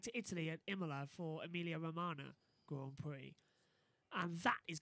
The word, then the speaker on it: Emilia Romagna: Yeah, I was pronouncing Emilia Romagna, but it's Emilia Romagna. Yeah, a bit like Romana from Doctor Who, so it's easy for For me all to Doctor say.